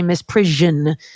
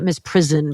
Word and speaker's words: misprision: And here in the North, we say misprision, not misprison, but everything else is good. No, in misprision. I say misprison, and I'm in the Midwest. Look it up. ZH, misprision.